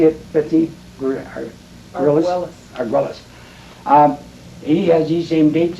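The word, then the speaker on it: Argüelles: Arguelles.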